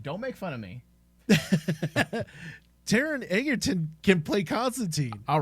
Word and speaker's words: Taron Egerton: And we're not even talking about it was, I keep mispronouncing his name, but the one who played Constantine. Taron Egerton.